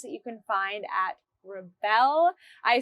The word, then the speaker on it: Rebelle: I'm also on there showing you all of the special, unique things that you can find at Rebelle.